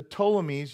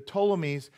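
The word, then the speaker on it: Ptolemies: Antiochus and then the toames you don't pronounce the P the toames the seusd hear this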